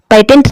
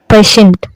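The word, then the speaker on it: patient: जैसे initial, पेशेंट, पेटेंट नहीं पढ़ेंगे, पेशेंट, पोर्शन, पोर्सल, रेशियो, प्रमोशन।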